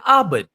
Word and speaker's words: Abend: So how do you say good evening? You say Guten Abend. Guten Abend. Abend. A-B-E-N-D.